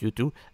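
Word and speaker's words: U2: you oui c'est ça ça se prononce youtu and Shin marry white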